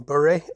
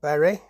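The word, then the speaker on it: Bury: of its route from bur or Berry which however you want to pronounce it and Blackburn and Cole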